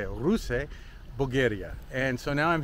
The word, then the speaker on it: Ruse: Ruse Bulgaria.